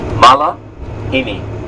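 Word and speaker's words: malihini: Malahini. Syllables? 4. Malahini.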